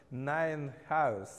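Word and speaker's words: Nijenhuis: Эти люди, это оба голландские имена. Первое читается Схаутен, а второе читается Найнхаус.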